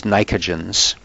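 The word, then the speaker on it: pnictogens: The name is nicogens. The P is silent in that word.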